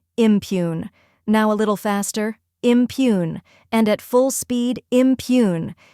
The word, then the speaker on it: impugn: The correct pronunciation is impugn. Let's break it down. First, we have im, which sounds like im in Imagine.